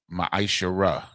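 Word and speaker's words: מעשר: and Malachi 3: 8-10 which means 10th in Hebrew and is pronounced mishar 10% of every penny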